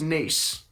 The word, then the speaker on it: Nice: Apparently it's pronounced Nice.